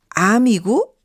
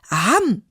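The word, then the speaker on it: 앎: 이게 생각이 나네요 아름다움은 암이고 아름다움의 반대말은 모름다움이다 신용복 선생님이 하신 말씀이십니다 암 암 그렇고 말고 할 때 암 이게 아니고요 리을 미음 받침이 들어간 암입니다 아 이거 좀 길게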